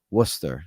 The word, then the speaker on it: Worcester: that if that's right some people would pronounce this a different way but I believe I'm pronouncing it correctly it is Worcester would you guys agree